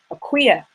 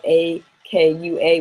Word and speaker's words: Akua: learning their day name, which is for females, Akuya. Akuya. And a lot of time people, because it's spelled A-K-U-A, will say Akua.